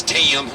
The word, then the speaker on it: Tim: Does anyone know how to say Tim down south? It's Tim, T-E-E-Y-U-M, so it gains a syllable or it loses one, and you never know what's going to happen.